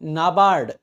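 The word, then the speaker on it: NABARD: भाई ठीक है तो इसको भाई इंडिपेंडेंट प्रोनाउंस नहीं करते इसको हम से भी पढ़ते हैं क्या पढ़ते हैं सेबी नाबार्ड ये जो ऐसी बॉडीज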